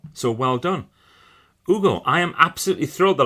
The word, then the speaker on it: Hugo: Everyone pronounces it with an H like Hugo. So well done. Hugo, I am absolutely thrilled that I got that right.